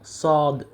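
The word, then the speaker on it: صاد: দাল দাল এরপর হচ্ছে জাল জাল র যাই যাই সিন সিনশিনশিন সদ সদ সদ সদ উচ্চারণের ক্ষেত্রে আমরা যে ভুলটা সাধারণত করে থাকি আমরা পড়ি সয়াদ সয়াদ সয়াদ হবে না বরং সদ সদ হবে সয়াদ এটা হচ্ছে কমন মিস্টেক তো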